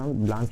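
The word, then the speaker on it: Blanc: लते है mount ब्लास कोई mount इसको प्र ब्लास भी बोलता है कोई ब्लांक भी बोलते है आप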